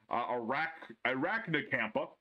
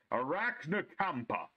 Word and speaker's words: Arachnacampa: Traptrix Vesiculo, three copies of the beautiful Traptrix Arachnacampa. I actually said it right that time. Arachnacampa.